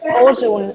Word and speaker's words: Oshun: It's Ojun. I'll write it down for you because there are different ways to spell it. Yeah, I know Oshun. O-S. Okay. Yes. H-U-N. H. Yeah, and sometimes it's not S-H, but an X. Right.